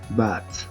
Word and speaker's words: bought: Cuando en una palabra hay estas dos letras GH, se convierten en muda, como el H en español. Por eso se pronuncia but.